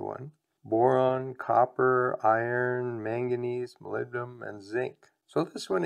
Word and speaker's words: molybdenum: The other compound that was in the fertilizer but wasn't listed in the banana is something called molybdenum. Or if you want to remember how to spell it, pronounce it molybdenum.